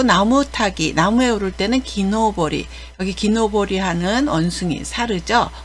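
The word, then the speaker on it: 木登り: 그리고 등산이라고 읽을 때는 짧게 읽어서 도장이라고 읽습니다. 훈독은 노보르입니다. 노보르라고 하고요. 그리고 나무 타기, 나무에 오를 때는 기노보리.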